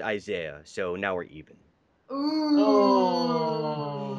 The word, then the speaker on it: Isaiah: And also, my name is pronounced Isaiah, so now we're even.